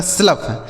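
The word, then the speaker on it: slough: आर ओ यू जी एच रफ ठीक है एस एल ओ यू जी एच तो एस एल से दोस्तों आधा स और ल हो गया ओ यू जी एच का उच्चारण फ ये लिखा गया आपका स्लफ क्या लिखा मेरे दोस्त स्लफ आगे इ एन ओ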